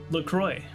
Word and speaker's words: LaCroix: LaCroix rhymes with enjoy.